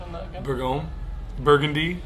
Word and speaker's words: Bourgogne: the pronunciation on that again. Bourgogne, Burgundy, Bourgogne, Burgundy, crescent roll.